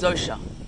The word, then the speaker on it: Zosha: I featherlight isn't it I pronounce the name that people call me as zosha so thank you very